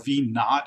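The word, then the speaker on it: v₀: velocity in the x-direction you'll see vo or V not it's pronounced sometimes that would be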